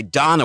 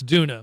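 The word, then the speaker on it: Doona: A popular baby car seat made by Donna, which purchased for $200 less than the original. It's Duna.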